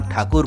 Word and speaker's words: ठाकुर: भी शर्मा जाते द अंग्रेजों के अशुद्ध उच्चारण में ही रविंद्र नाथ ठाकुर को टैगोर बना दिया बंगालियों में टैगोर कोई